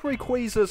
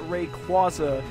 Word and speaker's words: Rayquaza: pronunciation sounds really stupid even though it makes sense since it's a combination of Ray and quazar as such people who